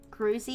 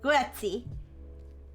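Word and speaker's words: Grüezi: Gruzi, I don't know how to pronounce that. It's Gruezi.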